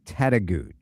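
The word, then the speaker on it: Tettegouche: I feel very confident that I know the correct pronunciation. Okay. Tettagooch. Tettaguchi. I'm going to say it is Tettagooch. I'm going Tettagooch.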